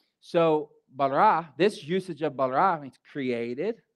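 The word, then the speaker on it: ברא: As I was studying the word created, it's the Greek word bara, like, get it, bara? Let's say it using a sentence. If you bara my wheelbarrow, you better bring it back.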